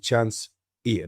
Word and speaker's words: Chance Eaton: Chance Eaton. Have I pronounced that right, mate?